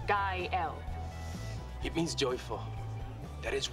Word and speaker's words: Gael: gael hola kyle kyle it's pronounced guy l it means joyful that